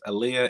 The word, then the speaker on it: Aaliyah: Is it said Aaliyah, but spell Aleya? Yes, Aaliyah and Brianna Friday.